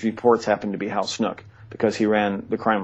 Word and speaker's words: Snook: Snook, who, or some, you could pronounce it Snook. It's spelled S-N-O-O-K. As far as I know, the correct pronunciation is Snook.